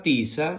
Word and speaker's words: tiza: La palabra tiza se escribe con T-I que suena ti, Z-A que suena sa, ti-sa, tiza, muy bien.